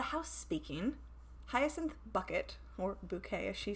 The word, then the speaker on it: Bucket: it's about hyacinth bucket who likes to pronounce her last name as bouquet and i guess i